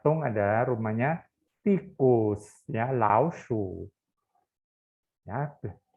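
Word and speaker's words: 老鼠: Oh, ternyata Tung adalah rumahnya tikus, ya, laoshu. Ya, perhatikan bacanya laoshu, shu di sini diiseng, ya. Kemarin kamu juga udah belajar kata lao, tapi laoshi. Nah, di sini bukan laoshi, tapi laoshu.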